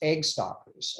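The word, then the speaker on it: äggstockar: It's actually pronounced egg stalkers, and that's what the ovaries do.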